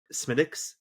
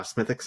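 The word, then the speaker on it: Smithwick's: You're You don't pronounce the W, right? Uh the Smithwix. Uh Smithix.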